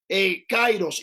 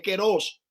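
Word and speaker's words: καιρός: La gente dice kairos, y no es kairos, es keros.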